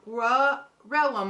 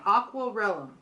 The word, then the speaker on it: Aquarellum: hobby sort it is called raw realm I've said it wrong again aqwal Rome it is by a